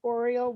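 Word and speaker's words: oriel: deck is approved okay spell this term like oriole window is that what you said yeah it's a r o r o r o r oh well that makes sense oreo window okay so spell it for me please o-r-i-a-l okay all right oh i've never heard that i didn't think you'd spill it like the bird i thought it was like an oreo cookie that too the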